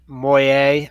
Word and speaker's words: Moyet: Yazoo why a CEO Oh with singer Alison Moyet I think it's pronounced mo ye t leaving a group future